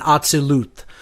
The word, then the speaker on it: Atzilut: I would say if I were to give the correct pronunciations as closely as I know them to be, it's Asiya, Yetzirah, Bria, and Atzilut.